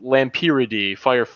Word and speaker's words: Lampyridae: There's some general guidelines for things like For example, Lampyridae, the family that fireflies belong to, the AE at the end is pronounced E.